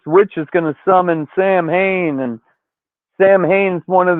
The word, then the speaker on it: Samhain: They're trying to unleash Sam Hain, which is pronounced Samhain, on day 70 of learning fucking Gaelic on this side.